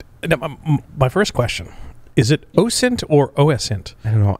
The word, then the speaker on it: OSINT: open source intelligence i i do subscribe to the train of thought that it is pronounced ocean but i have heard people say oscent yeah because when i